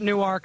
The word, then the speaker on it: Newark: From the first state, from the other Newark, the one that pronounces it Newark, not Newark, take that, New Jersey.